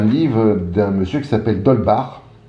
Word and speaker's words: d'Holbach: d'un monsieur qui s'appelle d'holbach ou dole bac si vous le prononcé à la française ça c'est l'idéal ostroff h au nba